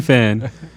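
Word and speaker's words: fein: i don't know okay you a fan fan is spell it f-e-i-n he's he's he's motivational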